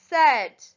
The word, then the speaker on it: said: Number 3, said. S-A-I-D. The AI is making the short sound there.